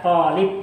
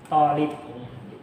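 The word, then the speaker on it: طالب: Nah, jadi karena dia pakai mat ya, talib. Jadi kita bacanya juga talib. Jangan talib. Jadi talib dibaca panjangnya atau matnya.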